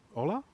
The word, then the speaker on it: hola: y uh Mitch Kramer hola hola hola yeah I got to say it right I was about to pronounce the h not supposed to do that uh unfortunately I lost